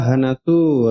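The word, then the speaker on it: 放す: Ya Hanasu pelafalannya sama dengan Hanasu ngomong ya, tapi di sini Hanasu melepaskan ya.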